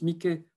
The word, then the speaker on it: Mickey: Mickey Mouse, que vous devez reconnaître ici, avec la petite souris que l'on prononce Mickey en français.